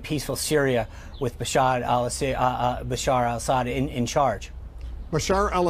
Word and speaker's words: Bashar al-Assad: Syria with Bashar Al Bashar al- Assad in in charge Bashar al- Assad I know you've mispronounced his name a few times uh but uh it's Bashar alassad I know the uh